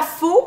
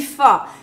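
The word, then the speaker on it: phở: Premièrement, je sais que pho s'écrit faux, mais on dit pas faux, on dit pho.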